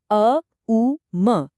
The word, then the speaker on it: ओम: जोर देता है कि ओम का सिर्फ नॉर्मल उच्चारण करना काफी नहीं है। इसका जो बिल्कुल सटीक और बहु शब्दांश उच्चारण है यानी अ उ म ए यू एम सिर्फ वही सही तरीका है।